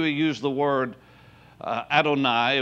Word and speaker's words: Adonai: used the word uh adonai which it's spoken out on eye but it's yhvh it's